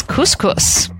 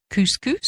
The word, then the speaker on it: couscous: Couscous? Actually, I think that's the correct pronunciation if you're actually in North Africa. It's couscous and not couscous, but we're probably going to